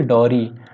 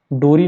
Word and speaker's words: Dorry: दूसरा कौन सी होगी डॉरी, डी ओ, डोरी नहीं होता है डॉरी होता है, पढ़ते हम लोग ऐसे प्रोनाउंसिएशन डॉरी कहते हैं और इसकी स्पेलिंग होती है DORRY।